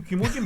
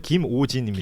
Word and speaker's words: 김오진: 이유 김호진 뭔데? 시켜주고이 뭡니까? 예. 아, 발음 잘 해 주세요. 김오진입니다.